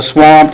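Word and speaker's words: SWAMT: owned premier Senior Marketing the swamped is how they pronounce that is actually the company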